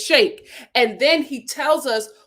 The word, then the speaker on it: Shake: him his name is shaq or is it shake shake his name is shake and then he tells